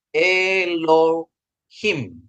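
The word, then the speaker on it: אֱלֹהִים: mem ini memsopit ya Ini memsopit dia jadi bacanya eloim Ya jadi bacanya dia e loim artinya allah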